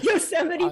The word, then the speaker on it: Yosemite: Is that how I pronounce it? I'm Canadian. Yosemite. Who's not impressed with that? No, Yosemite Park.